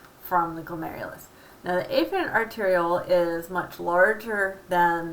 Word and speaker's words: afferent: arteriole this is the a ferret arterial and I'm pronouncing it funny it's really afferent arterial but just to emphasize the a there if you remember back